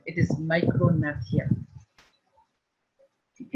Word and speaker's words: micrognathia: This underdeveloped mandible or a small lower jaw is called micrognathia. ये G इसमें silent है. ये G. This is silent. It is micrognathia.